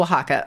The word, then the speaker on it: Oaxaca: Oh, Oaxaca. Okay. Okay, that makes sense. With the X making the H sound.